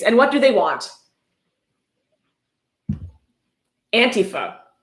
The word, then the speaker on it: Antifa: Antifa pronounced Antifa. He spells it out, so you're sure to pronounce it Antifa. Not Antifa, Antifa. Just want to be sure, be clear.